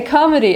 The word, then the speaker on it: comedy: Okay, a comedy – это комедия. Бұл барлығына белгілі деп ойлаймын, но, пожалуйста, pronunciation – comedy. Okay, comedy, not comedy.